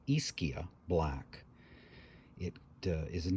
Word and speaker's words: Ischia: Bay of Naples it's the island of iskia and I've seen some pictures of it it looks like a magical place a lot of people call This aishia And I've been saying it wrong as well and I actually did a little research this time and I'm trying to say it the right way it's really difficult for